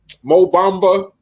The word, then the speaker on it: Mo Bamba: Mo Bamba.